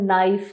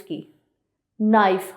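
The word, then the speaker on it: knife: जैसे कि अगर मैं बात करूं द वर्ड नाइफ की, नाइफ, हम इसको कनाइफ नहीं पढ़ते, हम के को साइलेंट रखते हैं, लिखा जाता है लेकिन हम इसको पढ़ते क्या है? नाइफ।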